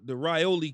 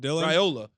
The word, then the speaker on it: Raiola: We're going to let if he's playing the Rioli kid – did I say his name right, Keyshawn? Raiola, the little Patrick Mahomes clone.